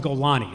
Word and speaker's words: Golani: There's no Golan Brigade, it's called Golani.